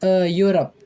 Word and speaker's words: Europe: Europe adalah kata benda yang diawali dengan huruf vokal EU, tetapi dibaca U ya. Cara membacanya konsonan, sehingga harus diikuti kata sandang A menjadi Europe.